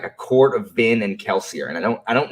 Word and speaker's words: Kelsier: two syllables i mean kelsier is really two syllables we can say that